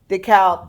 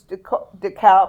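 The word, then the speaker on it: DeKalb: I go decal because I'm also a proofreading Nazi so to speak. So then I go it's decal not.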